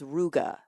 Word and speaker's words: ruga: I don't do this enough I'm going to spell it so the singular of this word is ruga r u g a and the plural is